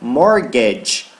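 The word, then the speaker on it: mortgage: rn e hoje e esse terá gente não pronuncia de jeito nenhum em falar em morgade morgade de morgade expande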